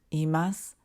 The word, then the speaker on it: います: imasu basic number three when we clearly pronounce the e in iru and emas it sounds a little too formal so japanese speakers often drop the e in natural conversation you'll see more examples